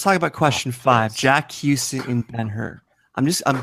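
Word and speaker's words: Huston: recent Ben her and Stacy mispronounced Jack Houston as Jack hustin but she quickly spelled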